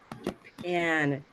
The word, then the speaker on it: Japan: Japan. Everyone try that. Japan. Japan. Yeah. Um, we use stress on one syllable in every word. So in Japan, it's the second.